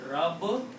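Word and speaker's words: رَبٌّ: So when you pronounce, this is rab bun, two bars. you can write down this as Rabbun with a shadda or tashdeed.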